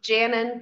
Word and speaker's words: Janon: pronounce your first name janon pronounced like Shannon janon replaces Mr